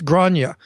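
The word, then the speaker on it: Gráinne: It's It's um Irish, so it's Grana.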